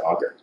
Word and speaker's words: Auger: it on my undergrad how do you pronounce it auger or OJ OJ OJ that's Ty o and then I moved to to the US from Canada and everyone said augur anyway auger electrons after